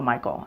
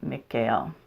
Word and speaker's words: Michael: their names for instance I don't say Archangel Michael I say Archangel McHale I call in the